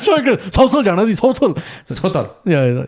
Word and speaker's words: Southall: What English? English first, yeah. Southall. Right. And that becomes? Sotol. It's so good. Southall jana ji. Southall.